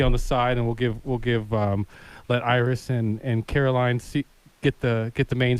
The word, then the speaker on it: Iriz: Am I pronouncing that correctly? Iriz. Yeah, Iriz.